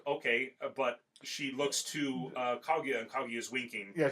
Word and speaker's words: Kaguya: What happens in that particular sequence, Kaguya walks by.